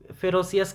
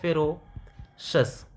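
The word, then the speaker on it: ferocious: Spelling आप अगर देखना और अगर प्रोनाउंसिएशन हम लोग प्रोनाउंसिएशन देखें तो हम लोग इसको जनरली फेरोसियस कह देते हैं, बट ये एक्चुअली में है फेरोशस।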